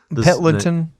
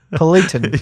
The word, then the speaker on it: Peloton: Petlinton? Pelianton? How do you say Peloton? Peloton. You're saying it wrong so many times. I'm not even going to know if I know how to say it. Palladian. Peloton. There you go. You got it.